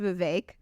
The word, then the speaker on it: Vivek: It's even better because his name is pronounced Vivek.